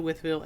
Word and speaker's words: Wytheville: the June 8th weekend head out to the wvil area and stop by and say hey if